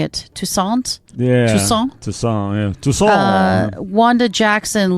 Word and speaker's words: Toussaint: Toussaint?